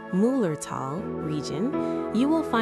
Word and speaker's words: Müllerthal: Deep within the magical Müllerthal, which is pronounced Müllerthal, region, you will find the Schiessentümpel waterfall.